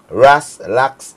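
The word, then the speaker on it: RasLax: Ras Lax syrup, like relax.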